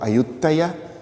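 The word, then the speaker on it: Ayutthaya: so on and they named their Capital auta which is of course the Thai pronunciation of audya which is the Rama's capital and even further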